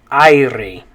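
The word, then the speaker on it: aire: english we'd say air in spanish it's spelled like this and the way you're going to say it is ire okay now remember we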